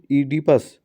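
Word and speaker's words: Oedipus: ऑन हा comment on ईडिपस ठीक है यहां पर ओ साइलेंट है कमेंट ऑन द ओपस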